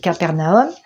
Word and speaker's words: Capernaum: voilà comment ça s'écrit alors ça c'est en français on dit Capernaum sinon ça se dit CFAR qui veut dire village et narumm vous voyez ici là naroum ici il y a